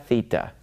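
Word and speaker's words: θήτα: and then have the three that rhyme Zita eita theta all right so that's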